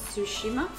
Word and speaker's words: Tsushima: Tsushima, yeah.